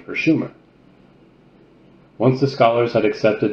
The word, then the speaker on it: Sumer: their land Su end except for mispronounce anouncing the name it should have been Schumer not Su aat was right Su